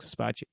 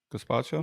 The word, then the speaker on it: gazpacho: Caspaccio. Yeah, it's Cold a cold gazpacho. Yeah, gazpacho. gazpacho, not with a C.